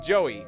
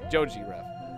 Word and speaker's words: Joji: Or is it Joey? Joey Rev. Yeah. I get it. Like Gintama, kinda. Or no. Joji Rev. I was still saying it wrong. Okay, Joji Rev.